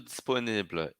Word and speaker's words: disponible: Eu vou só até o L. Disponible, disponible. calme, calme. Vou até a última consoante.